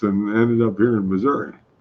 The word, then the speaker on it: Missouri: what I do think do they sometimes call it misery Wow yeah it's called Missouri is what they actually call depending on where you put the syllable where ever you put the accent on the syllable the cream is three